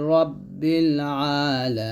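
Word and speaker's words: رب: বা লাম জের বিল রব্বিল রাব্বিল না বলে বলতে হবে রব্বিল আইন খারা জবরা হবে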